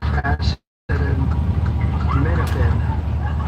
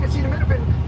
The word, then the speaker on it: acetaminophen: the use of I said well let's say acid and menopen accept that okay no it is not okay we would like a second opinion and a third pronunciation look there's already a ton of controversy around the lack of data tying acetaminophen in pregnancy to autism and you can't even be bothered to pronounce a word correctly until maybe you get